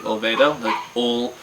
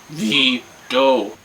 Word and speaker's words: olvido: I said Olvado for a long time, and they were just, Olvido. I'm Olvedo? Olvido.